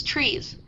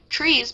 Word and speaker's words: TRIZ: What is TRIZ? Pronounced TRIZ but also TRIZ as in fizz by some Russians.